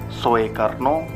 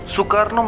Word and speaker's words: Soekarno: Menurut ejaan lama itu, bunyi U dituliskan dengan huruf OE.